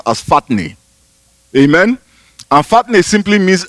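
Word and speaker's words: φάτνη: That word manger comes from a Greek word that is pronounced as fatne.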